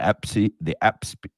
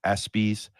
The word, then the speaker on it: ESPYs: The EPSIs, I say it wrong. ESPYs, the ESPYs, the World MMA Awards, whatever they are, by Fight Mag.